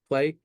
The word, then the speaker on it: PL3Y: So, we always say play. People kind of stumble along play because it's spelled P, L, the number three, and the letter Y.